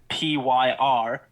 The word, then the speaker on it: Vampyr: I don't think a definitive answer on how to actually pronounce it. Oh, yeah, because there's a Y, hey? Yeah, it's Vampyr.